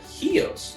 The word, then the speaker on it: Chios: And I found this island that said Chios.